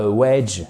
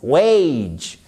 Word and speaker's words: wage: Et c'est pas wedge, c'est pas un e. Non, c'est wage. C'est le même. Voyez le a, vous le prononcez comme le e et le a de great.